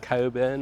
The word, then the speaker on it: Cockburn: in Coburn Central or cockburn Central we pronounce it Coburn on this channel and in Perth we pronounce it coin there are all apartments